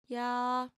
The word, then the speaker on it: 야: So if this is A, what would this character be? Can you guess? The answer is Ya. 야, The second short stroke will add a Y sound.